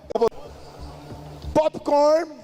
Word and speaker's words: popcorn: Tá vendo como ele fecha a boca para falar? Presta atenção no final.